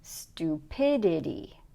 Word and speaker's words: stupidity: So the correct one is stupidity. If you try saying it the other way, we could say stupidity or stupidity or stupidity. And you can start to hear which stress is correct.